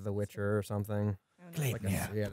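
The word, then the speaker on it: Gleipnir: Yeah, it's pronounced Glapnir. Glapnir.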